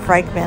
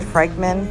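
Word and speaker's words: Frykman: Cubs bears David frickman I believe is the creator or David frickman I think that's how you say his name f-r-y-k-m-a-n they're from 2001.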